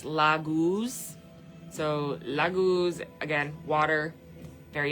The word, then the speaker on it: Laguz: It's pronounced Laguz.